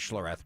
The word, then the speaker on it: Schlereth: I've heard your name pronounced as Schlloreth before. It used to be get pronounced that way my first three years in the league.